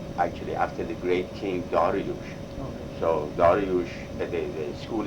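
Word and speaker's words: Dariush: And so it's spelled Darius. Darius is of course the anglicized is Darius or Darius, D-A-R-I-U-S, and then what we say D-A-R-I-U-S-H, Darius, and that was the harmony of the great king.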